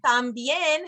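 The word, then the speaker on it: también: tips here so um tambien has an accent mark so whenever you see an accent mark on a word in Spanish when you're reading that's where you put the emphasis that kind of helps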